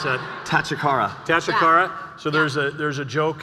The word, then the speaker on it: Tachikara: And then how do you pronounce that? Tachikara.